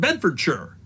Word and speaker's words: Bedfordshire: that Buckingham Shire Oxford Shire and bedfordshire are pronounced buckinghamshire Oxfordshire and bedfordshire the reason is not laziness or dialect it's